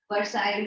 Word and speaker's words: Versailles: Versailles. Okay. Okay. Versailles is the pronunciation, which was very, very humiliating.